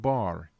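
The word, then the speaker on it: בר: Bet resh, pronounced bar, is the Hebrew word for sun.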